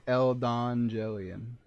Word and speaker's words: Eldangellion: stream right because it's the end of Elon jelian that's how you pronounce the title by the way